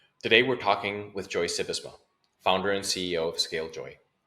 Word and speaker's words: Sybesma: Did I pronounce that right, by the way? You've told me multiple times. Sybesma, but it's okay. No. Let's get it right. It's super important. It's Sybesma, like the horse, Seabiscuit. Sybesma.